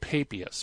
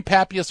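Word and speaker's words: Papias: as Pappy as' and sometimes I hear it pronounced pay pious but I prefer Pappy's say Pappy us flourish sometime around eighty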